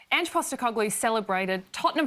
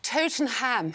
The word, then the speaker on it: Tottenham: Tottenham Hotspur's Europa League victory.